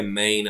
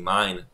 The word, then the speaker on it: main: Pozor, ono sa to vyslovuje main, ale to nie je nemecký main, že môj, ale po anglicky main.